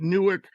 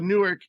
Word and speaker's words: Newark: When I was doing research into you, I saw that you played at Newark High School, and I was so excited. And then I realized that there's a Newark in Ohio.